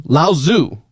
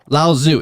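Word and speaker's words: Laozi: Lauzu. Okay. Okay. Lauzu. It looks like lousy because it's l a o zi.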